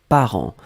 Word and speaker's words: parents: Donc le deuxième mot, c'était parent. Parent, on l'écrit au pluriel ici. P-A-R-E-N-T-S. D'accord? Parent, on ne prononce pas le T, on ne prononce pas le S, comme d'habitude.